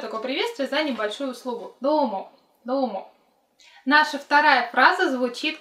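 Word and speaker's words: どうも: Давайте начнем с фразы номер 1, и фраза эта звучит как «домо», «домо». Пишется хирогана, и «до» у нас долгое, «домо».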